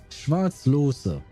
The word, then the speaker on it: Schwarzlose: Oh, Schwarzlos? Schwarzlose. Apparently that's how you pronounce it, more or less, with my very terrible accent.